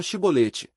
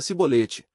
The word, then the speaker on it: chibolete: Então lhe diziam: "Diz agora chibolete". E ele dizia cebolete, pois ele não conseguia pronunciar corretamente.